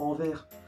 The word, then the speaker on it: Anvers: ya aussi la ville d'anvers c'est anvers à anvers pour une fois qu'on prononce dès le est sans fin de vos